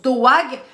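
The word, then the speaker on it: דאג: Ça s'écrit D-A avec une petite apostrophe, une petite virgule A-G. Et ça se prononce doag.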